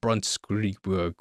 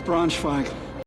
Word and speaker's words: Bronschweig: Directed by Dale from The Walking Dead, he's playing a doctor named Ben Brunt Scree Brunt Scree Brunt Scree Brunt Scree How do I pronounce this? It's Bronschweig.